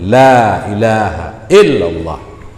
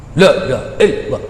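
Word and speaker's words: لا إله إلا الله: Ya, jadi baik menan tetap ya bebetul la ilaha illallah. Ya, yang ban cara baca yang payah pegah sikit. Ya, karena baik salah baca. La illallah, la illallah, la illallah, la illallah.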